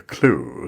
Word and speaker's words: Clew: and we're talking about an app called the clue c-l-e-w um is that the right pronunciation of the app poll yes yeah absolutely